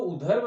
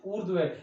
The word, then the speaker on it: ऊर्ध्व: तो ये जो शब्द है इसको अनुदैर्ध्य नहीं, दैर्ध्य, इसको उधर्व नहीं, ऊर्ध्व, इसको ईर्ष्या नहीं बल्कि ईर्ष्या के रूप में उच्चारण करेंगे हम इसका।